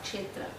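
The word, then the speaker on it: क्षेत्र: Kshetra.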